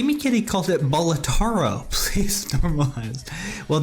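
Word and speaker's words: Balatro: bolaro please normalize well there's been some debate as to the pronunciation of the of the name whether it's batro or batro um people you know people have decided that batro is the way they want to say it for the most part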